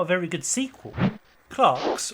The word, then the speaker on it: Clerks: a very good sequel clocks or to use the American pronunciation used within the film clerks is a breakout indie